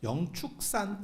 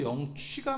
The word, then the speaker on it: 영축산: 그래서 저도 어렸을 때 아니면 여기 행자 생활할 때도 영축기보다도 영취가 맞지 않나 라고 생각을 했었는데 공식적인 명칭도 영축산이고요. 그리고 무조건 아무튼 축으로 해야 됩니다. 취는 안 됩니다.